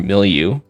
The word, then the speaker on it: milieu: I would say can, and then milieu, or milieu, I guess, in the American accent. You know, IU doesn't really look like you.